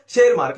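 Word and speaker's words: Tschermak: Next question, who rediscovered Mendel's work, बहुत famous question है, Karl coherence, Hugo de वराइज एंड शेरमार्क, इसको आप जो भी बोलते हो, टी साइलेंट है ये अपना इंग्लिश का लेखा जोखा है, जो भी है ना।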